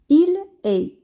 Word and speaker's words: il est: Il est. Ici, EST se prononce aussi est. Mais on doit faire la liaison, c'est-à-dire qu'on doit relier la consonne L avec est. On va dire il est.